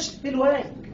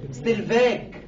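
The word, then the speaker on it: Stellwag: ستيل واج عشان يفكرك بنطق اسمه الصح، اسمه ما بينطقش ستيل واج، ستيل فاج.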